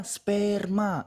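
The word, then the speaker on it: σπέρμα: Pleges ean dote peri amartias puci humon opetai sperma sigma mu epsilon rho mu alpha. Dibacanya sperma, artinya apa?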